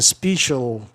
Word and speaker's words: special: Olha, special é uma regra de conveniência, porque deveria soar I também, special, species, special, mas aí preferiram special, né?